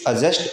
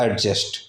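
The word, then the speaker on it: adjust: Next हमारा एडजस्ट, इसे एडजस्ट भी बोलते हैं, डी को साइलेंट अगर प्रोनाउंसिएशन में होता है, सो इट्स एडजस्ट और एडजस्ट।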